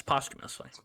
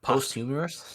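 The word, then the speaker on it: posthumously: you say it yes POS humously it's not posst humorous no postumus okay I've been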